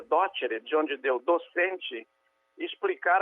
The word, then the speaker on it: docere: se ele sabia docere, que em latim se pronuncia docere, de onde deu docente, explicar aquilo.